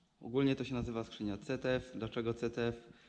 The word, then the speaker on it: ZF: Ogólnie to się nazywa skrzynia CTF. Dlaczego CTF? Jeśli bym tutaj w Austry, gdzie jesteśmy, powiedział, że to jest skrzynia ZF, nikt mnie nie zrozumie. Wiadomo, że Z czyta się jako C.